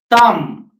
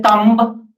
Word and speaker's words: thumb: The option is B, thumb. We generally used to say thumb. The B is silent here, so thumb.